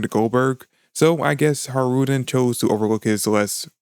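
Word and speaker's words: Hajrudin: New Giant Warrior Pirates HJ Ruden in my last review but turns out the J is actually meant to be silent so his name is actually pronounced har Rudin now we do find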